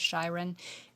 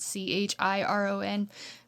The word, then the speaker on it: Chiron: I will admit for the longest time I was calling this Shyron, you know, spelled C H I R O N, but I actually looked it up and it's Chiron.